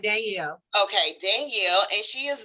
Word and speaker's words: Danielle: You're pronouncing it Danielle. right, Danielle.